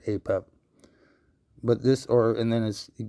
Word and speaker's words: Apep: Okay, so he pronounces it a pep. Everybody I've ever heard has always said a pep.